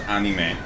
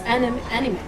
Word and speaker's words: anime: Then I would go a step further and say the reason it's pronounced anime is because Japanese people cannot end with an M.